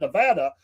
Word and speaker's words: Nevada: Nevada where my sister says, you got to say it like that. Nevada.